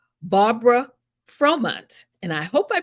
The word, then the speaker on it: Fromant: Pronounced your last name correctly. Is it Fromont?